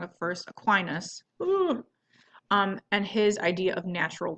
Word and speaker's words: Aquinas: Oh, I always say his name wrong at first. Aquinas.